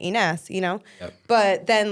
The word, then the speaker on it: Inas: name because they say iness which is almost like inas and I love the way Arabs say inas you know but then